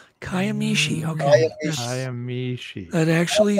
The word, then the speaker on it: Kiamichi: to them pronounce that it's kayam Mishi is how that's actually just be glad I didn't say Kia there's actually a fellow